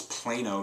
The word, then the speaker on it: Plano: That is actually mispronounced. It's Plano, Texas.